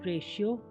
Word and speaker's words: ratio: टी श कब बनेगा? टी के बाद IA, IE, IO आएगा तो टी का उच्चारण श हो जाएगा। INI TIAL इनिशियल शुरुआती, PARTIAL पार्शियल आंशिक या पक्षपात, RATIO रेशियो अनुपात, PORTION पोर्शन भाग,